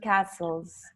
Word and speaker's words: castles: So he took us to some wonderful lakes and castles. We don't pronounce the castles.